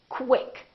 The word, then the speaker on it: quick: pronounced as KW so there's a little W sound in here so I want you to say quick pronounce the kW quick